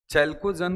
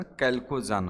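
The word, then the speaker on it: chalcogen: चैलकोजन कहीं-कहीं पर लिखा होता है लेकिन उसका सही उच्चारण कैलकोजन है।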